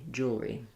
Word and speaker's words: jewelry: But in jewelry, because it's 2 syllables, this jewel syllable is going to be fairly short. So I don't worry too much about jewelry, rather more jewelry.